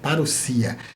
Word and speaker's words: parusia: em grego de parusia a pronúncia com som de s mesmo n a pronúncia grega é parusia aí quando transliteração de zer por isso que a gente fala parusia mas a pronúncia correta é parusia o termo grego parusia